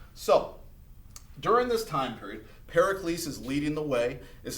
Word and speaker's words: Pericles: well during this time we see this person pericles is how you say it pericles is going